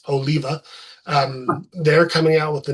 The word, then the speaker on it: Oliva: I always pronounced it Oliva because I didn't Yeah, know. I didn't Then I know that. watched videos of him and it's Oliva.